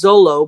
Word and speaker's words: Zoro: pronounced Zoro's name as Zolo, but I was saying, as far as I had known, that in Japanese, you never pronounce the R as an R, but as an L.